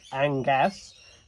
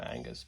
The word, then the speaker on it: Angas: angas not us it's angas playing South Austria it's probably pronounced exactly the same way Angus but uh Angus is usually spelled with a u so here we go